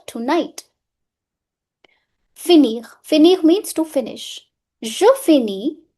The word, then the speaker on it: finis: Finir means to finish. Je finis. I'm not pronouncing S. Last letter always remains silent en français.